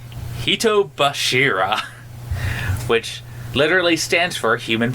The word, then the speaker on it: Hitobashira: this, which is, and I'm gonna butcher this pronunciation, Hitobashira, which literally stands for human pillars. You said that right. Hitobashira. Hitobashira.